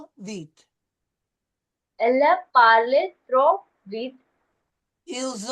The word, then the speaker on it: vite: Okay, now, as we see oftentimes in French, when we have an E at the end of a word like we do in vite, it's not pronounced. So, trop vite.